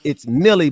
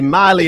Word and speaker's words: Milley: He was like, well, it's Milley, but Ben is not getting Tilly, so let me say Miley to help him out to understand he's saying it wrong.